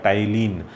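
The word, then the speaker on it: ptyalin: फिर उसको कहा जाएगा टाइलिन। तो यहाँ पर जो ये पी है ये पी अल्फ़ाबेट साइलेंट है।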